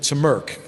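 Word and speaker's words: TMRC: tech Model Railroad Club the members called it two Merck is the way they pronounce the acronym there and if you were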